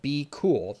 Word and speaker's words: bqool: that repricer is called be cool now it's spelled bqool if you're interested in looking